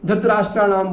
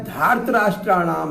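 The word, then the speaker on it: धार्तराष्ट्राणाम्: हम उच्चारण में दोष कर देते हैं, धृतराष्ट्राणाम बोल देते हैं इसको, नहीं, यह धार्तराष्ट्राणाम है, अपत्यार्थक प्रत्यय है ये।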